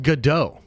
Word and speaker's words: Gadot: Brandon de Lampa says say Gadot or I'm unsubbing ah bro you're the one that's saying it wrong it's pronounced Godot everybody knows that except for you Brandon for some reason